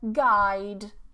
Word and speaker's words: guide: Silent U. Okay, so you see a lot of these GU together, we don't pronounce the U. It just becomes a G. Okay, like today I had a lesson, I had the word guide, guide, guide. So I don't say guide, but guide.